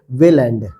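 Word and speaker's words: Welland: है वेलैंड ठीक है इसको इंग्लिश में बोलेंगे वेलैंड ठीक है ये आप इसको लिख लीजिए वहां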